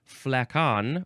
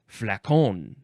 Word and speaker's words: flacon: Now we have flacken, or flacon, or how would you say that? Flacon, or flacon. That one seems more proper.